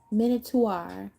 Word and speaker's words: Minotaur: PR pronunciation mana. It's a monot. Manuta. Minotaur.